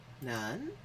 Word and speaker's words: 难: 难 Nan. In Korean, that's pronounced nam. And in Japanese, it is dang or nang.